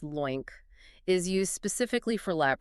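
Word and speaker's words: LOINC: So Lo I N C that's pronounced loink is used specifically for lab results.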